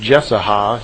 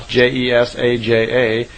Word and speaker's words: Jesaja: who spoke through the prophet, I believe it's pronounced Jesaja, Jesaja.